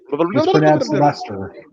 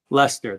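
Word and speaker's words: Leicester: David nice okay fine Lester Lester that's right not Lancaster sorry Lester I knew it was not pronounced the way that it's spelled I've learn well and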